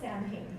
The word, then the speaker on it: Samhain: It's spelled Samhain, but it's Samhain.